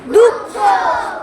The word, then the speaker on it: দুঃখ: এটার উচ্চারণটা কি দুঃখ দুঃখ মানে এই হ টা ডাবল হয়ে যাবে। এই এইটা থাকা মানে পরের বর্ণটা ডাবল উচ্চারণ হবে।